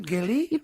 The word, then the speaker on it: Geli: Geli?